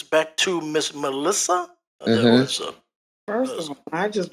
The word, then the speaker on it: Malysa: My name is Melissa. You spell it Malysa, but if you flip it around and pronounce it again, it sounds like asylum.